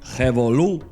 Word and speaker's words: revolú: You might use the noun, Revolu. Revolú. Revolu. for example, El bembé terminó en un revoluto.